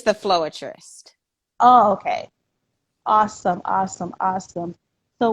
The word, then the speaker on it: Floerist: i'm kind of mad so how do you pronounce your stage name it's the floatrist okay awesome awesome awesome so what made you